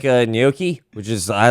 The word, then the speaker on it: gnocchi: That's right, gnocchi. It's phonetic thing. Yeah. You had that. GN swallow oki.